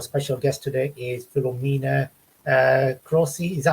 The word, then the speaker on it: Croce: Our special guest today is Filomena Croce. Is that how you pronounce it? Croce. Croce.